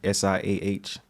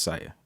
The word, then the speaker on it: S14H: S I Ah, it's pronounced Sia. S14H is pronounced Sia.